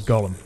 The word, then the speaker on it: Golem: life in in Jewish mythology but it's yeah golum is how they pronounce it in game okay uh and yeah